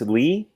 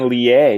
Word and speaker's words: Lee: No, it's Lee. I've been saying Lie, dude.